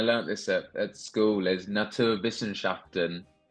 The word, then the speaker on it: Naturwissenschaften: this at school, is Naturwissenschaften, which is, firstly six syllables, so it's a lot for an Englishman, but it is just German for sciences, basically. Oh, It's absolutely ridiculous, but it sounds fantastic. Naturwissenschaften, it kind of just